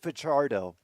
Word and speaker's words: Fajardo: They pronounce it Fajardo.